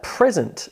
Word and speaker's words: present: What about present as a noun where you give somebody, say, a birthday present versus the verb present? Present, present, present, present. Can you hear the shift in syllable stress?